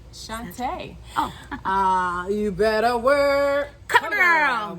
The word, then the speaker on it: Chantá: y'all my name is chante i like to tell people to say my name like rupaul said it in the 90s session shantae ah you better work